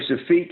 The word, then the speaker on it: Shafeeq: so um how do you say your name shafiq is it was perfect that's probably most folks